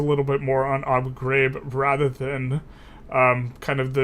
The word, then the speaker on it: Ghraib: We wanted to talk about the Abu Ghraib. I think it's Ghraib, not Grad. Isn't it? There's Ghraib. That's pronounced.